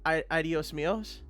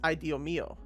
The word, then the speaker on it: Dios mío: I always used to say "adios míos," but that's not how you'd say that. It's "idio mío," right? You don't pronounce the s's at the end, or at least that's how she taught me how to do it. You don't pronounce the S at the end of mio because mio means you,